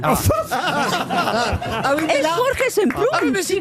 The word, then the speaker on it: Jorge Semprún: Mais pas Yorké. Et dans l'Espagne, Ça dépend comment vous voulez le prononcer.